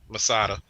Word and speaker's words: Masada: you're between two people say that name again masada okay that's how you say it okay i